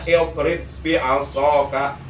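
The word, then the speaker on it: اضْرِب بِعَصَاكَ: Jadi bacanya idrib bi'asaka, tapi jangan digunakan, jangan ditahan, jangan idrib bi'asaka, nggak boleh.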